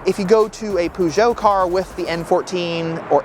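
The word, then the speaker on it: Peugeot: my pronunciation of it I know that in the UK it is pronounced PUO but I think it's pronounced perso it's pujo at least I'm pronouncing it somewhat correctly I mean imagine if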